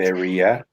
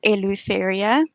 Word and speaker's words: Eleutheria: I know a lot of people don't know how to pronounce that, but they generally do get it right. Eleutheria. It's Eleutheria.